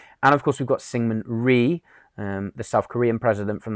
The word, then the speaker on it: Syngman Rhee: It's actually pronounced Syngman Rhee, but for the purpose of your spelling, I'm going to say Syngman Rhee because it will help you guys memorize the spelling.